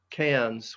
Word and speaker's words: Cairns: for these names and it if you noted uh cans uh that we just left is c a i r n s the r is not pronounced it's pronounced uh cans i don't know if